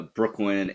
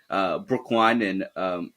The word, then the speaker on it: Brooklyn: say it was actually Brooklyn and Geo at the coffee shop when the coffee owner mispronounced their names as Brookline and Gaio.